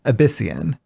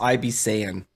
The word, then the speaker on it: Abyssian: So we see our first dragon flight here, which is uh Abyssian starts out as a seven mana 66 battlecry. Your dragons have rush this game. Uhhuh. Sorry. It's pronounced Ibis Saiyan.